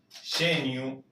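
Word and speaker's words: gênio: En portugués se pronunciaría genio, perdón, genu. Recuerde que la o final como una u.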